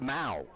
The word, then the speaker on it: Mow: by pereira and barth mal as in cow m-o-w you don't mow the lawn you mow the lawn but it's pronounced mao and he swings and